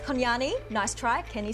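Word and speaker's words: kunanyi: Kanani. It's pronounced Konyani.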